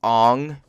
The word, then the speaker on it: Aang: Aang is Ong. My name is Ong.